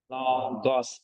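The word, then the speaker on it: λόγος: Jadi bacanya logos.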